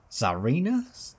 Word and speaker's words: Tsarina: Tsarina? Because the T's silent, right? I think, from memory.